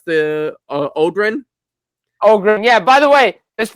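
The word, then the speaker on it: Öhgren: Jim, how do you pronounce the Odrin? Ogren.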